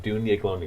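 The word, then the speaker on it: Daoine Gloine: If you want to know how to spell that, it's not anything like what you hear. It's Daoine. It's Dune. It's like Gaelic. Glonier. Gloine. So Dune-Glonier. If you say it with an Irish accent, it sounds even better.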